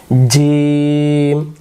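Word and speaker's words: جيم: জিম শক্ত করে জিহ্বার মাঝখান থেকে। জিহ্বার মাঝখানটা উপরের তালুতে লাগবে। জিম।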